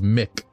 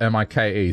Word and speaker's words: Mike: they gave is because they don't want it to be mispronounced as Mick. That's why they spell it M-I-K-E, so you know to say Mike.